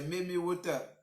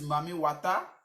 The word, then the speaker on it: Mami Wata: bon, la bonne prononciation, c'est Mimi Water. Donc, d'autres disent Mami Wata, ou bien la mer des eaux.